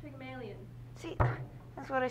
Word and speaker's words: Pygmalion: Pygmeal? Pygmalion? It's pronounced Pygmalion.